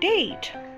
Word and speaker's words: date: Here's another example, the word date. When you pronounce this one, the A is long and the E is silent.